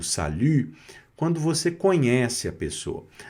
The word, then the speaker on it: salut: Então fica salu. Salut. Salu. Tá vendo? Esse biquinho vai aparecer, não tem jeito. Tá certo? Então, a boca do U e o som de I, tá certo? Essa junção, essa essa junção fica simultânea e acaba saindo esse som de u, né?